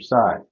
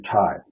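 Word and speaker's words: Tsai: Mac porting would be Andrew side or Andrew TI sorry as he pronounced it recently he had plenty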